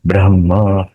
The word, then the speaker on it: ब्रह्म: तब नित्य वस्तु एकम ब्रह्म। ब्रह्म है, ह और मो, ऐसा ह का उच्चारण आगे आएगा, बाद में मो आएगा।